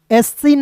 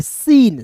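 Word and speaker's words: scene: तो SCENCE एसीन नहीं पढ़ेंगे, सीन, सीन क्या पढ़ेंगे, सीन पढ़ेंगे।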